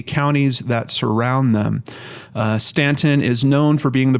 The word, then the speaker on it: Staunton: here uh it looks like the pron the pronunciation on this is Stanton Stanton is an independent city in the US